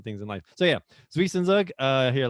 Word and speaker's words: Zwischenzug: Zwischen. Like a TS, the Z's are pronounced not as a Z, but as a TS, so it's Zwischen.